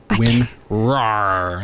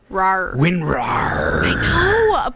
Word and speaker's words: WinRAR: get that one right RAR winrar win roar like a lion jaylen wants to remind you say it like a lion rawr winrar but i'll say like